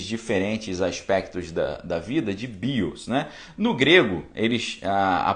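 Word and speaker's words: βίος: E ele chama esses diferentes aspectos da vida de bios, né? No grego, a pronúncia é bios, né? O som de a letra B, ela tem o som de V, tá certo?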